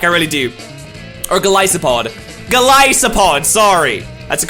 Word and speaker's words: Golisopod: Golisopod. Sorry, that's a correct pronunciation.